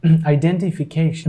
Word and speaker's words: identification: Identification. American people pronounce this word as identification. Identification. They keep that T silent.